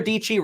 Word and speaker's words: Dietschy: how should people follow dietschy rhymes with peachy yeah so my channel